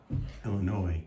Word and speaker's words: Illinois: you say that name illinois noise illinois you don't say the s yeah i don't know why but you know okay one two one community chest he got a 12.